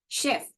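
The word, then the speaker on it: chef: शेफ। The right pronunciation of this is शेफ। नॉट चेफ। लॉट of people pronounce S चेफ। We have to pronounce it एस शेफ।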